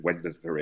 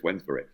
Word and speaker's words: Wednesbury: Now that somebody's taught me how to pronounce that properly, because the last time I kept saying Wednesbury, and they're going, no, I live there, it's Wednesbury. That's a case we took.